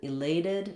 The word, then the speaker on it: elated: In elated, because we have the T sound, or the letter T here, we have to add a syllable, so we get that reduced I sound. I did rewrite the T here with the letter D, just because it's a flap sound in this word, meaning I don't say elated, but rather elated.